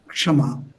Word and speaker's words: Kshama: This Kama in Bengali is pronounced in Sanskrit as Kshama.